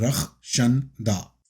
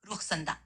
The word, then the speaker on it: रक्षंदा: नहीं, आप प्रोनाउंस गलत कर रही हैं। नाम नाम है रक्षंदा। समझ गई फरूक, अब मैं सही से कहूंगी, रुखसंदा। नहीं नहीं नहीं, रिपीट आफ्टर मी। रख रक्षंदा। शंद कहिए दा। दा रक्षंदा।